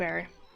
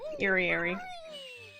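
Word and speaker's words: Eyrie: Do people say airy or eerie? I mean, obviously it depends on how it's spelt, because sometimes it's spelled with an A and people say airy. But obviously it's eerie because it's eerie.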